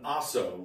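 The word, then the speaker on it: Ahso: And the whole What's nature of this is an Aso was the it's original. It's spelled A-H-S-O.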